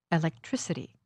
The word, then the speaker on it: electricity: reality human humanity electric electricity the stress for these suffixes happens on the syllable just before this two-syllable suffix listen moral morality objective objectivity